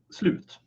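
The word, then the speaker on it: slut: the end station and in Swedish is sloot spelled like slot so imagine being on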